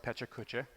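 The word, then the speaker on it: Pecha Kucha: So this is Pachakacha, which, you could debate the pronunciation of that. Looks like Pechakucha.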